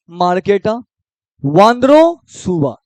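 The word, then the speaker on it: Markéta Vondroušová: category के कौन है नाम को तोड़ो ठीक है मार्केटा इसको क्या पढ़ेंगे मार्केटा वाद्रो सुवा क्या पढ़ेंगे वाद्रो सुवा तो यानी इस साल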